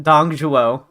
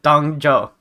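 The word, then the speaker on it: Dong Zhuo: Everyone pronounces his name differently. There's no need to be on guard. Jashu pronounces it Dongzhuo, and other people call it Dongzhou.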